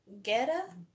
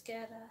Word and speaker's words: Guetta: They don't pronounce the U unless it has the accent over it.